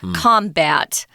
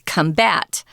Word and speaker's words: combat: This is the verb form if it's the noun form, guys, it's pronounced differently. It's combat, and this is combat.